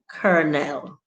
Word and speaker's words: colonel: silent letter words is surely kernel c o l o n e l how does that become cornell i don't know because